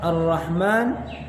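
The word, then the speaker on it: الرحمن: yang selanjutnya harus diperhatikan ketika mengucapkan lafadz ar-rahman dan ar-rahim roll posisi bibir tidak maju sama sekali karena roll Ini hubungannya dengan lidah tidak ada bunga dengan bibir maka bibir tidak dimajukan sedikitpun akan tetapi harus diperhatikan roll meskipun bibir tidak maju posisi bibir tetap rata namun rok harus dibaca dengan tebal Kenapa karena rok berharokat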